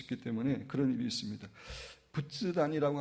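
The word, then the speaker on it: 仏壇: 때문에 그런 일이 있습니다 부츠단이라고 하는 것은 불단이라는 말을 일본식 발음인데 이제 집안에 부처나 자기의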